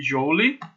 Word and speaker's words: Joule: Se escreve Joule, mas se pronuncia Joule.